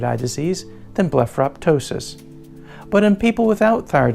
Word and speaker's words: ptosis: in both conversation writing to just ptosis with a silent P there are many different